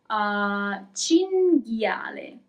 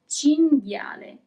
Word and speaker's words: cinghiale: Cinghiale. Here we also have the group that we have already seen, G-H-I, G. Cinghiale.